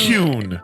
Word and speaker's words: Kuhn: Kuhn.